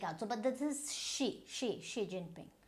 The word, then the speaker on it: Xi Jinping: So this XI is always she. So this is G, not sh. You can say Xi Jinping.